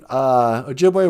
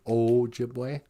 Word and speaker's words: Ojibwe: O sounds like O in go and Ojibwe. You mean Ojibwe? Yeah. I hate it when people pronounce it Ojibwe. Hey, do you like to speak Ojibwe? No. And the 2 O's is oo in food.